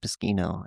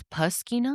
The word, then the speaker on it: Moschino: it's Moschino, actually. It's Poschino?